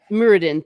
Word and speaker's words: Muradin: Muradin. Thank you for That's pronouncing it for me.